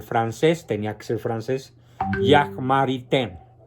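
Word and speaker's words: Jacques Maritain: tenía que ser francés Jack marité se escribe jaques maritain por si alguien quiere encontrar el libro que se llama Introducción a la filosofía de Jack maritan es el mejor comentarista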